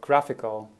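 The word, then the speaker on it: GraphiQL: a fancy name for a thing called graphical spelled graph iql it's someone how to pronounce if you don't know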